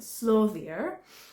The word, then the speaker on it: Slóðir: It is an Icelandic word for the name, but the name to my knowledge is pronounced Slóðir, which is Icelandic for trails.